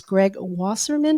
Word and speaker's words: Greg Wasserman: My guest today is Greg Wasserman. Did I pronounce that correctly, Greg?